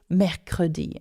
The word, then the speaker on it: mercredi: And I'm always quite amazed at how they can remember this word because it doesn't sound anything like Wednesday. It's mercredi. And not only that, it has 3 syllables.